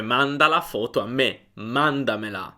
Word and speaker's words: mandamela: Nota anche come l'accento non si sposta. Il verbo è manda e quando aggiungiamo mela alla fine non cambiamo l'accento, non spostiamo l'accento. Mandamela, mandamela, è sempre all'inizio su manda.